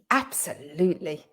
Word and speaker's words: absolutely: today wasn't it lynn absolutely absolutely so we've got absolutely we've got four syllables there absolutely absolutely so it's the third syllable that has the stress absolutely and we often